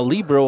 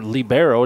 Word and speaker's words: libero: He's the DH, so he's like a libero on the, or libero, depending on how you say it on the volleyball floor.